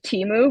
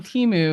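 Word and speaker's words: Temu: carts okay off of Teemu because it was much cheaper than Amazon were you saying it wrong were you saying it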